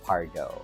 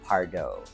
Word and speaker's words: Pardaux: it to sound very soci very frenchish it's Paro I know pronounce last name because but is pronounced Paro Paro so Paro all right so it's almost